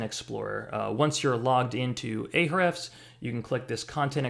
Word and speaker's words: Ahrefs: this topic so we're going to go into ahrefs or ahrefs however you want to pronounce it and we're going to be doing